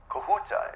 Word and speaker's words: Kahuta: Kahuta, is that the correct pronunciation?